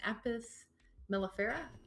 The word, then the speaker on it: Apis mellifera: First, the scientific name for the European honeybee is Apis mellifera. Uh-huh. I'm pronouncing that right?